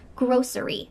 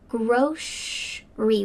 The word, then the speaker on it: grocery: You can say grocery with an s sound in the middle. Grocery. Grocery. But for me, I say groceryy with a shh sound in the middle.